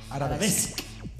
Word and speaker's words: arabesque: Perdón, la pronunciación es arabesque.